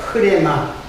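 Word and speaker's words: ῥῆμα: 흐레마. 일반적으로 레마라고 했는데 흐자는 그냥 묵음화된 거예요.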